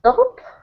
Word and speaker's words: dove: So in the first one we've got an dove, and the second one we've got O, dove.